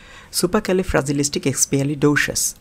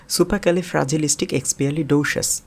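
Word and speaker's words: supercalifragilisticexpialidocious: প্রথমেই আমরা এই শব্দটির ভেঙে ভেঙে উচ্চারণটা শিখে নেই, সুপারক্যালিফ্রাজিলিস্টিকএক্সপিয়ালিডোসাস। আমি আবার উচ্চারণ করছি, সুপারক্যালিফ্রাজিলিস্টিকএক্সপিয়ালিডোসাস। এবার একটু তাড়াতাড়ি উচ্চারণ করি, সুপারক্যালিফ্রাজিলিস্টিকএক্সপিয়ালিডোসাস। দেখুন আমি আবার উচ্চারণ করছি, সুপারক্যালিফ্রাজিলিস্টিকএক্সপিয়ালিডোসাস।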